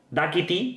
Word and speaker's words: Dákiti: Da Kitty, porque lleva acento en la A, Da Kitty no sé qué significa.